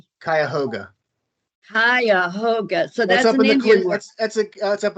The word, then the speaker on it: Cuyahoga: that john bryan and one that i couldn't pronounce a valley national park it was c-u-y-a-h-o-g-a cuyahoga hiahoga so that's something that's up in the cleveland